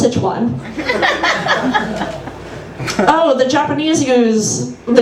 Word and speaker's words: Sichuan: going to get Sichuan food I'm like it's pronounced Sichuan oh the Japanese use the Japanese use y